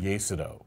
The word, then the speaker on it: Iesodo: here only part of it the show's called yido which it's an interesting word so it's spelled i s o do o what does